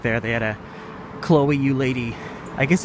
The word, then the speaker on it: Eudaly: These people, that's the third Chloe Eudaly, apparently is how you pronounce her name.